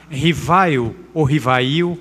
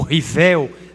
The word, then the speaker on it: Rivail: 3 de outubro de 1804, Hippolyte Léon Denisard Rivail, ou Rivel, depende muito das pronúncias, que existiam fenômenos curiosos, que aconteciam em determinados salões, e se ele não tinha interesse de examinar.